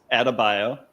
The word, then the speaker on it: Adebayo: So Adebayo, which that's how you pronounce it. Adebayo.